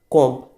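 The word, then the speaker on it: comb: Next आता है आपका कॉम्ब। बोलेंगे क्या हम इसको? कॉम्ब। और लिखा जाएगा क्या? कॉम्ब। इसमें भी आपका जो बी है वो साइलेंट होगा।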